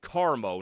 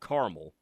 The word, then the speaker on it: Carmo: Hey, Denver from Indiana on the text line, Parker says it's pronounced Carmo, not Caramel.